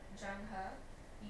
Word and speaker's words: Zheng He: Also, at one point, I think you were referring to Zheng He.